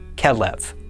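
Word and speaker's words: כֶּלֶב: Notice that the kaf has a dagesh, so it makes the k sound, while the beit does not have a dagesh, so it makes a v sound. This word is pronounced kelev.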